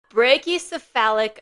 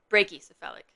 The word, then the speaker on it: brachycephalic: Brachyphalic obstructive airway syndrome. Brachiosyphalic obstructive airway syndrome. That was close. Brachy syphalic. Brachy syphalic. I've been pronouncing that wrong for years.